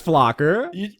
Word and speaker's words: Flocker: Their name rhymes with blocker. Flocker, then. Yeah. That might have been too far of a hint, but you got there. It's Flocker.